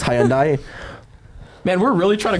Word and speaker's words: Hyundai: It's actually pronounced Hyundai.